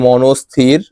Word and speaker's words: মনস্থির: শব্দের প্রমিত উচ্চারণ লিখো এর প্রমিত উচ্চারণ হবে ম দন্তে নৌকা দন্ত এ হসন্ত থস্বীর অর্থাৎ ভেঙে ভেঙে পড়লে হবে মনস্থির 20 নম্বর প্রশ্ন চতুর্ভুজ